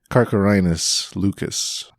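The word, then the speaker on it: Carcharhinus leucas: And I included the pronunciation Carcharinus lucus.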